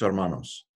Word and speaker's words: hermanos: his brothers de sus hermanos I don't pronounce the H and his brothers and